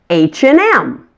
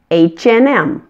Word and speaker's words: H&M: of the famous store H&M again that and in the middle is just pronounced n hmm and make sure to emphasize that M at the end H&M I just bought